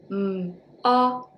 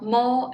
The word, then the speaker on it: mo: Well, mo and fo, you can just follow mop, mo, follow, fo.